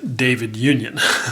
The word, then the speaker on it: David Union: uh and even asked those guys how to pronounce it and it is in fact david union so i'm pleased with that because i was